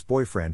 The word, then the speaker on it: boyfriend: To pronounce boyfriend, have in mind that the size of the syllable indicates where the accent or stress is. In this case, the accent is in the first syllable, corresponding to boy.